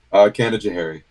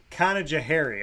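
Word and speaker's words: Canajoharie: They gave me some pronunciation, so you say it. Well, how do you say it? Kanajahari. Kanajahari.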